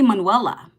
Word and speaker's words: Manuela: How can you not say Manuela? How can you not say Manuela, right? It's like Manuel, but it's got an A on the end, right?